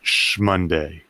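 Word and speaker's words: SMonday: value-based work that's there i spell shmonday capital s capital m-o-n-d-a-y but i pronounce it shmonday i love it um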